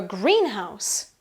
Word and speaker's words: greenhouse: Usually the stress is on the first syllable in compound nouns.